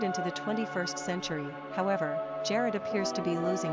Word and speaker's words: Jared: Pronunciation, Jared.